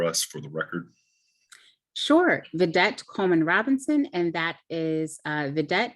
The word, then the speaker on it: Vedet: Vedet, will you state your name and spell it for us for the record? Sure, Vedet, and that is Vedet, V as in Victor, E-D-E-T, C-O-L-E-M-A-N hyphen, R-O-B-I-N-S-O-N.